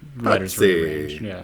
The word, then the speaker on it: Pazzi: He P A Z Z I. So, you pronounce it however you say it. It's like a It's like an a pizza, but just, you know, Pazzi. Pazzi.